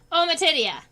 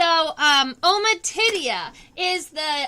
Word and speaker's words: ommatidia: Ommatidia. That's the word. So, ommatidia are the name for the individual small eyes inside of the compound eyes.